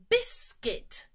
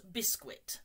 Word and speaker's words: biscuit: well done knife here biscuit not bisquit no the U is silent biscuit biscuit good the